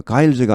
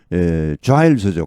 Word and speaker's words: Giles: 존 자일즈입니다. 가일즈가 아니고 자일즈입니다. 여기 MESA는 메사가 아니고 메이사입니다. 그리고 여기 자일즈죠. 가일즈가 아니고. 이런 고유명사는 그냥 다 따로따로 발음을 알아두셔야 됩니다.